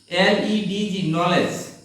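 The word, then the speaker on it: knowledge: তো আবার উল্টা বলছি, যখনই KN শব্দের শুরুতে থাকবে সেই জায়গাতে কে সাইলেন্ট থাকবে। তাহলে আমরা দেখি KNOWLEDG, নলেজ, এখানে হচ্ছে আমাদের এই যে কেটা KN একসঙ্গে, এজন্য কেটা সাইলেন্ট থাকবে।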